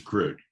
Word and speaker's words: creek: So, excuse me, the creek. I'm sorry. Isn't that usually spelled with 2 E's? Isn't that a creek? No, it's a crick. It's something similar to what you get in your neck.